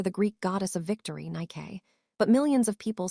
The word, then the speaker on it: Nike: NY, named after the Greek goddess of victory, Nike. But millions of people say NK, influenced by English spelling patterns like bike or hike. The brand tried to correct it with ads. It's Nike, not Nike.